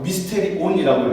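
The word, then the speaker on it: μυστήριον: 저걸 저렇게 읽어요. 미스테리온이라고 읽어요.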